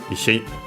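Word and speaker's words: 石: Then we have Ishi. Ishi, there are technically more than one, but yeah, this one is clearly the one from, also based on the context. Accent on the last mora, Ishi, which means stone, rock,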